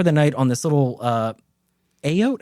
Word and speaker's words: eyot: And they camp for the night on this little Ayote. How did your boy pronounce it in the book? 8. It's 8. Eyot.